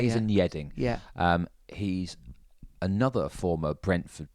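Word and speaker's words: Yeading: and Yedding.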